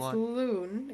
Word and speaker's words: Lon: So one and I did I say that wrong. It's Lon and that is just how it's that that's that's just how it's spelled unfortunately. Lon and Paulo Lun and Paulo are looking weird right now.